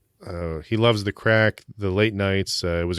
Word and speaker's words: craic: was developed while living in Ireland uh crack pronounced crack is an Irish word for epic times and